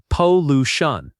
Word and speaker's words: pollution: The word pollution has stress on the second syllable. Pollution.